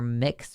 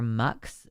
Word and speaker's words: Mx: Usually what people use as the alternative is called uh it's pronounced either mix or mux, but it's abbreviated mx.